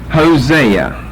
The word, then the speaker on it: Hosea: Hosea. H-O-S-E-A.